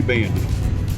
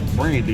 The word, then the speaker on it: Bandy: Bandy. You said my name. You said Brandy last night, but it's a common mistake.